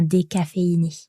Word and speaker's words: décaféiné: Le nom entier, ça serait un décaféiné. Un décaféiné. 5 syllables. Décaféiné.